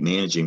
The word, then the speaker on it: managing: here's why it's tricky it looks like man ag now that is a soft g so if you add ing you have to remember that is not manic king it's still that salty managing the next word was